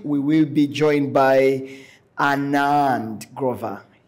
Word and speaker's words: Anand Grover: will be joined by Anand Grover he he specifically asked me to pronounce that name that way uh Anand is a